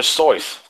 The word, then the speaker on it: Seuss: Seuss like soy sauce it's pronounced dr. sois and that's like my whole my whole childhood was a lie I've read all dr.